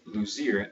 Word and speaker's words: luzir: number three which is look at the last letter of the word the last letter of the word is in luzir l-u-z-i-r then the last syllable of the word gets the stress and if the word